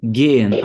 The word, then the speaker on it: gehen: Então aqui é gehen. A pronúncia é tipo assim, ó. É como se fosse assim, ó. Ge e depois você faz o N em alemão.